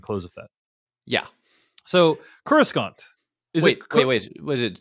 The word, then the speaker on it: Coruscant: the FED yeah so Coruscant wait wait wait was it David are you pronouncing a hard C Coruscant of Correspondence Coruscant yeah apologies Coruscant